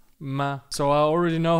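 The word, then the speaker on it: 妈: Let's talk about first tone first. So we call this one the singing tone. And it's essentially the highest point in your vocal range. The way I would say the English word may be, maybe. So just try it with me. This is the word for mother or mum. Ma.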